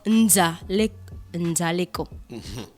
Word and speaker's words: Nzali Eko: Donc Lorraine et Ariel m'ont dit qu'on prononce Nzaleko.